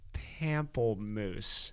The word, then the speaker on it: pamplemousse: So today I'm drinking LaCroix Pamplemousse. How in God's name do you pronounce that?